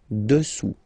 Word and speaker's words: dessous: Final S not pronounced here. Dessous.